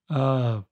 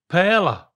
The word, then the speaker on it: paella: It really needs an I. So it's not a silent I, it's an invisible I. So try that. Add an invisible I in there. Paella. Add the I earlier. Oh. Paella. That's getting there. Paella. Paella. And that Paella. But the L's are a Y.